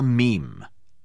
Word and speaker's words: meme: This thing is called a meme. Now, it's spelled M-E-M-E.